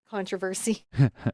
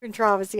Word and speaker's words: controversy: We don't put up with any meanness or controversy, as they say, controversy, controversy. I always like how it's said the 2 different ways.